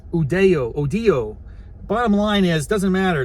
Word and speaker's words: Udio: Now that could be pronounced a lot of different ways. As an American, I'm gonna be like UDO or UDIO. I think it's gonna be more like Hispaniola, Odio.